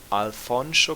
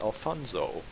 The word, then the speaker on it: Alfonso: worse at singing acapella alfonso cross pronouncing this sound is very important he gets offended if you pronounce it as alfonzo floyd winters unfortunately his